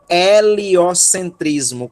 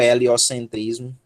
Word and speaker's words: heliocentrismo: daí que vem o heliocentrismo com H né aí a gente não pronuncia o h do heliocentrismo né mas esse H é justamente a escrita essa aspiração forte religious é o sol